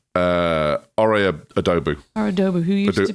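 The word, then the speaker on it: Ore Oduba: How do we pronounce his name? Ore Adobu.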